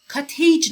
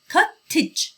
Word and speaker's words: cottage: cottage نگید. خیلی از کلمات تو انگلیسی هستن که AGE آخرشون هست و خیلی از بچه‌ها اینو به خاطر کلمه age با صدای A تلفظ میکنن. این یه صدای ای کوتاه هست. cottage. cottage. مثل marriage. خیلی ها اینو میگن marriage. اوکی؟ marriage. cottage. یه ای کوتاه بگید.